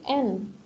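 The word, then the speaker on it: ん: hai hai yang ini n n ini kalau di Jepang agak Tengah gitu ya bukan n secara jelas tapi enggak enggak mendengung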